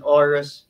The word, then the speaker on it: Aurus: I ask you know is that the correct pronunciation orus real estate yes okay yes there's King